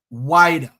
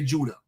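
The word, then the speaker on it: Ouidah: these people are liars in English usual we pronounce the word as wider why in English version of the word we don't say Judah because they're trying to pronounce a indigenous word within the Europe Yuba dialect that's what they're trying to do the Spanish call it Lura then they call it zura then the French came and call it Judah the British came and call it waa why didn't the British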